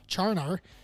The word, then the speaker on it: Charnar: And also, it's pronounced exactly how it sounds, Charnar.